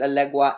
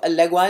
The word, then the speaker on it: Elegba: Okay, it's spelled here Elegba, but it's Elegwa in the book.